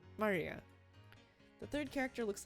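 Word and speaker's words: 真里亞: Of course, kanji is pronounced Maria.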